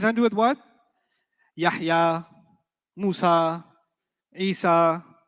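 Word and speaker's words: موسى: Musa will always be non-flexible. Musay. You haven't heard Musi, you've heard Musay. That's a qira'ah difference. It's a pronunciation difference, not a grammar difference.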